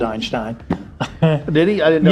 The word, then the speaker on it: Einstein: einstein because einstein said einstein did he i didn't know yes he did proper german pronunciation anyway uh in america we say einstein but he didn't say